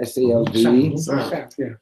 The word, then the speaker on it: salve: S-A-L-V-E? A salve. Some people pronounce it salve, some people pronounce it salve.